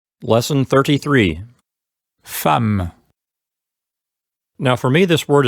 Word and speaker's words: femme: Yeah, like most of the French words that have E plus two consonants, it's usually pronounced eh.